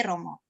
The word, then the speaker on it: rho: Kemudian berikutnya dari Pak Juwono, apakah arti PX atau X yang berhimpit dengan huruf P, Romo? Oh, ya. Mungkin 3 pertanyaan dulu ini, Romo. Ya, gampang dulu ya. Itu bacanya bukan PX itu.